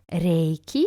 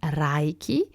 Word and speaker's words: Reiki: Reiki and not Raiki or Raiki.